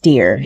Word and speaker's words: Dior: Dior, which is actually pronounced deer in Old English, is the first gargoyle to have become domesticated.